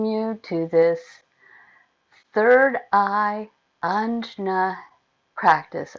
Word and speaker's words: Ajna: to this third eye Ajna practice. I've also actually heard it pronounced Agna, which is very similar to Agni, which is fire, which is not what the third eye is about.